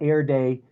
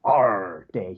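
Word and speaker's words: AREDAY: Um, and I call it Air Day, but the correct pronunciation is R Day. You have to pronounce it like a pirate.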